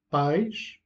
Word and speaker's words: pais: Donc, país, c'est un hiatus. País, qui veut dire pays. Pais, c'est une diphtongue, et qui veut dire père au pluriel.